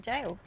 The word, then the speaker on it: Gaol: Right, we're all set up, had some lunch, and we are going to straight up just go have a look at the jail.